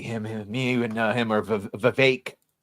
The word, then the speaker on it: Vivek: I see him me, and him are Vivek. Rhymes like with cake. That's how you say it the right way.